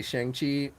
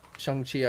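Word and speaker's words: Shang-Chi: uh shang chi which i still want to say shang chi but but chung chi i guess is now the correct pronunciation of it but uh you know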